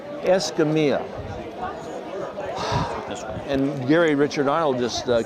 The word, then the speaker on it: Escamilla: How do I pronounce it correct? Escamilla. Escamilla.